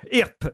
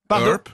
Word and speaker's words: Earp: Wyatt Earp, Virgil Earp et Morgan Earp sont trois frères, les frères Earp, bah en oui, quelque sorte.